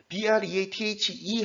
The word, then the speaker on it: breathe: 명사일 경우에는 스로 소리가 나고 동사일 경우에는 즈로 소리 나는 경우가 많습니다. 여기에 breathe 뒤에 ing가 붙은 겁니다. breathe 하면은 breathe 이런 소리가 납니다.